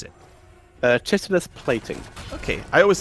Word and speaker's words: chitinous: Chitinous plating. Okay, I always said Chitinous, so there we go. It could be chitinous. It very much depends on the locale there, but I pronounce it chitinous.